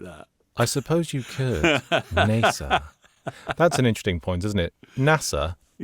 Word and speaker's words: NASA: NASA. That's an interesting point, isn't it? NASA. Yes. Sounds like it's spelled Nasser. Yes. As in the Egyptian leader.